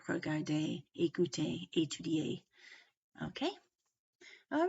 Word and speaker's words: regarder: If they end in an ER, an EZ, or an ET, which is basically an E with a silent consonant after it, but not including plural S, okay? Not including S's, but these, especially these three consonants, then the word is usually a long A sound, such as regarder, parler, ballet.